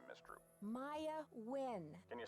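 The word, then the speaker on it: Nguyen: Maya Wynn. Can you spell that, please?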